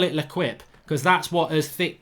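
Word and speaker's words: L'Équipe: And Andrew Bruce says, Mark, please, it's pronounced L'Equipe. Mate, I've just told you I'm crap at French. I didn't get GCSE, so you obviously did get an A in GCSE French, and you call it L'Equipe.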